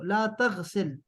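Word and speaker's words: لا تغسل: ला तगसिल, आखिर में ना रुक जाएगा, साइलेंट होगा वो। ला तगसिल, मत धो।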